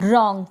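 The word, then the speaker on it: wrong: जो डब्ल्यू होता है इसमें ये क्या होता है? साइलेंट होता है। इसका प्रोनाउंसिएशन नहीं होता। इसको नहीं पढ़ा जाता। कुछ स्पेलिंग्स देखेंगे। जैसे कि ये है रॉन्ग। क्या है? रॉन्ग। आर ओ एन जी। यहीं से प्रोनाउंस हो रहा है। जो डब्ल्यू लगा हुआ है इसका उच्चारण नहीं हो रहा। तो डब्ल्यू आर को हम पढ़ेंगे र यानी डब्ल्यू का उच्चारण नहीं होगा।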